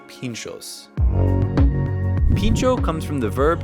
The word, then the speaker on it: pintxo: skewer generally a toothpick and pincho spelled phonetically to English speakers is actually spelled pincho in this area which is Basque Country an area of Spain and France with its own language and this is a